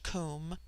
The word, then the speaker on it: Kum: immortal Spirit viya immortality Kum pronounced like the Welsh Kum denotes something of holess